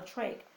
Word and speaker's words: trach: something called a tracheotomy, sometimes called a trach, which rhymes with the word make.